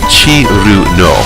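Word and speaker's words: Cirno: over how her name is supposed to be pronounced. And in Japanese, the Japanese phonemes for it, as rendered in kana, would be Chiru no, which is kind of like Zun's really weird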